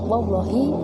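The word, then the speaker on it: والله: Adapun cara membacanya yaitu ba billahi dan wawu adalah wallahi dan tak adalah tallahi.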